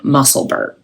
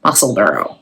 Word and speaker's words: Musselburgh: But the other hat that I wanted to talk about is the Musselburgh, like Edinburgh, Musselburgh. I think somebody said that was how to say it.